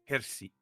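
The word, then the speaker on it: Hirsi: Hersy.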